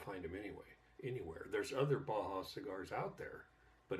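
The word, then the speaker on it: Bahia: Okay, the first one that I have in here is it's made by Baja. I believe you pronounce it B-A-H-I-A.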